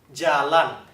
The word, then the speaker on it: jalan: coba, jalan, 好，再一次。